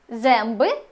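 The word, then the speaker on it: zęby: або еносове всередині слів вона промовляється як м або ен залежно від наступної приголосної земби зуби ренка рука еу земби ренка в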